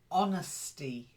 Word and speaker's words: honesty: um the first word honesty Silent Age honesty try it honesty that's it I'm being honest with you honestly it's a Silent Age honestly honesty you went